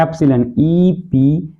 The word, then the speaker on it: epsilon: देखिए ये सिंबल ई नहीं है, गलत है, इसको ऐसे लिखते हैं, ऐसे लिखिए और ऐसे लिखिए, इसको बोलते हैं एप्सिलॉन, EPSILON, प्रोनाउंसिएशन सही से।